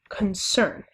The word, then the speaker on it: concern: So we have concern. So the first syllable, again, is unstressed and the second syllable is stressed, and that is an example of an iambic foot of poetry.